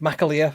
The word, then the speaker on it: McAleer: So my name is Kevin McAleer, and it's pronounced McAleer for those who might be wondering how that's pronounced.